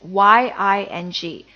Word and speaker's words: ying: in sing okay so without the initial this is spelled as y i n g ying and with the initial